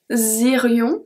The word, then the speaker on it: irions: Then the two last one, nous irions, irions, vous iriez. So the S at nous irions is not pronounced, then we have the link, and finally we have vous iriez.